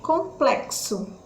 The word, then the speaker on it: complexo: respondia uma letrinha b complexo complexo olha so ks então a letra nem